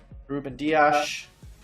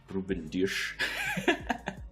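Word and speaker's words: Rúben Dias: talk about it is Ruben dias been trying to say the pronunciation attack in as Portuguese away as possible look I'm not from from Portugal but I would say something like Ruben douche yes yep I think for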